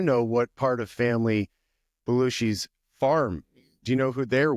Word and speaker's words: Belushi's Farm: It's not Belushi Farms. I've been saying it wrong for a while now. And that is on me. And I apologize for saying that, but it's Belushi's farm.